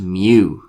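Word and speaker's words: μ: and it's it's pronounced mu i think it's a greek letter mu it's kind of like a bad cat mew doesn't quite sound like a cat it's a weird cat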